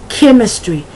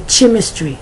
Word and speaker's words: chemistry: it's Chrome chorus character chemistry I've heard people say chemistry no it's chemistry chiropractor Christian chromate Christ chronic